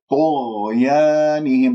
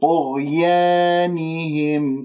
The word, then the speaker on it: طغيانهم: طغيانهم، لا تقول طغيانهم، يانهم، هذه يا ممالة، ألف ممالة أحبتي في الله، فانتبهوا، لا تبتسم بالشفاه وتسحب اللسان وتبسط اللسان، بعد بين الفكين واللسان مرتاح، يا، يانهم، يا، طغيانهم، كسرة النون والهاء والميم مظهرة، طغيانهم يعمهون.